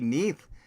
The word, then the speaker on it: Neath: Cellar Door Games announces roguelike tactical RPG Neath set to release for PC in 2026. I'm pronouncing it Neath because it looks like death.